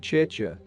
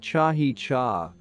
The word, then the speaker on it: chicha: He said that the making of chicha, which is pronounced chi-cha, but which he pronounced chahi-cha, an alcoholic beverage made from fermented corn, was